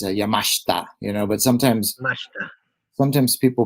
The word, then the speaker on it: Yamashita: well, the actual Japanese pronunciation is Yamashita, but Mashita.